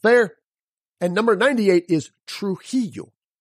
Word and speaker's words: Trujillo: it's got both there and number 98 is Trujillo Trujillo so it's got both of them the La Jolla rule of pronunciation t-r-u-j-i-l-l-o Trujillo the surname via v-i-l-l-a as